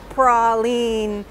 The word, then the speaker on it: praline: du presla and so pras la prolin there's a thread of connectivity there and then that's really why we pronounce it the way we do here in new orleans and a praline here